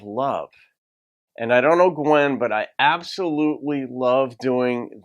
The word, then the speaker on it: Gwyn: reaction to Gwen Bridges it's spelled Gwyn but it's pronounced Gwen thank you for that